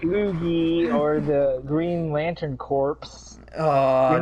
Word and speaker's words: Corps: Some people, Green Lantern's their favorite superhero, and they call it the Green Lantern Corps. It's ass. It's like, what the fuck? The S is silent, like the Marine Corps.